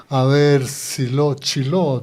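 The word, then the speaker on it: שילה: Pero muy cerca de esa región de Ramá, en esa época, estaba, Chiló, dicen la pronunciación en hebreo, ¿no? Y ahí, en esa ciudad de Silo, es algo muy lindo.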